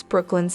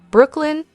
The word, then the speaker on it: Brooklyn: fantastic to hear Yuri pronounce Brooklyn's name correctly Brooklyn not Brooklyn like most people say I believe Nicholas will